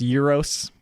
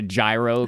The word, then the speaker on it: gyro: By the way, I know it's pronounced euros. I just call it a gyro because it's funny.